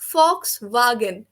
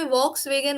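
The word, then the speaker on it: Volkswagen: फिर है dare फॉक्स वागन, English में वॉक्स वेगन होता है, actually फॉक्स वागन German company ही है, तो ये वॉक्स वेगन कभी था ही नहीं है, फॉक्स वागन ही था शुरू से।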